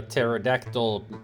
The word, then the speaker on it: pterodactyl: I mean, that's the reason why you cannot hear a pterodactyl peeing, because the P is silent.